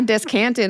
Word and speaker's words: descant: I descanted on that. Let's go. It sounds like a word that's wrong when I say it. It's descant. Descant. Descant. Descant. No. Descant. Accent on the first.